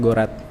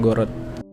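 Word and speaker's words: город: namun e kalau di Nah karena ada udaranya ini o-nya Ini dibaca a salah satu vokal o-nya ini gitu Jadi dibacanya gorat bukan gorot dulu gua pas gua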